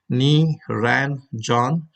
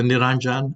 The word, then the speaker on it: Niranjan: came to US first, I introduce myself as Niranjan. J is a J, as a Niranjan. So when you add it together, it pronounces very close.